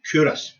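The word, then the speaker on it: Culross: C U L R O S, pronounced Curus.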